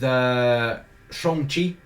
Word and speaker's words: Shang-Chi: And that's what we're going to be talking about now with Shang-Chi.